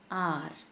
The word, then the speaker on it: hour: He will come in R. R here, H is silent, so the sound is of a vowel.